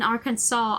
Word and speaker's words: Arkansas: But the first time I learned that Kansas in Arkansas are pronounced the way they are, despite being written Kansas and the same fucking word, except there's an R, A-R in front of it.